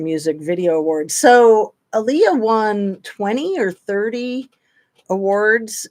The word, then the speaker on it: Aaliyah: saying it right oh I am I'm saying Aaliyah right cool P um poac Tupac thank you